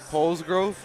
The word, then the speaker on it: Polsgrove: We're here with our new first-year Mishawaka athletic director, Mark Polsgrove. Did I pronounce that right?